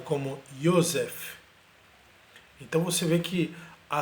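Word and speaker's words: יוסף: que ainda existe em vários países árabes, é pronunciado como Yosef.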